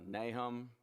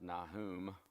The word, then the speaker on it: Nahum: through the captivity uh nahum probably more accurately pronounced nahum but we just we kind of i've always grown up here in nahum and it's just hard to get out of that habit habakkuk you know